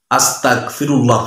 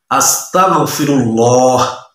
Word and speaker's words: আস্তাগফিরুল্লাহ: খুব সতর্ক থাকবেন যে কেউ যদি আস্তাগফিরুল্লাহ পড়ে, আস্তাগফিরুল্লাহ আস্তাগফিরুল্লাহ, অর্থ হবে আমি কাফের হতে চাই, নাউযুবিল্লাহি মিন যালিক। একটু খেয়াল করে পড়বেন, এখানে গয়েন কাপ উচ্চারণ করবেন না, গয়েন উচ্চারণ করবেন কি হবে, আস্তাগফিরুল্লাহ আস্তাগফিরুল্লাহ আস্তাগফিরুল্লাহ।